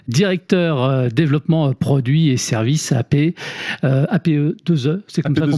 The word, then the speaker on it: APEE: Directeur développement produits et services APE 2E, c'est comme ça qu'on prononce.